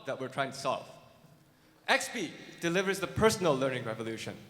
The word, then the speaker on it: Expii: The next company is Expii. Did I say it right? Yeah? Expii.